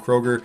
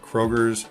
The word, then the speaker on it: Kroger: we got Meyer and Kroger and if you're in Michigan you know we add an S after everything Krogers Meyers it's not the right way to say it but hey what are